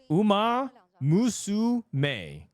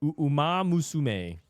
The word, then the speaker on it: Uma Musume: Uma Musume. That's how you pronounce it. Umasume. Uma Musume.